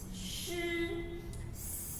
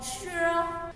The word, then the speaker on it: 湿: Imagine the shape of the snake, and then you pronounce shi. No more sure.